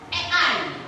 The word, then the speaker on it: AI: Nah, seperti yang yang kalian sebutkan itu adalah sebagian dari yang namanya kecerdasan artifisial atau lebih kita kenal dengan ei. Tulisannya I tapi dibacanya e ya.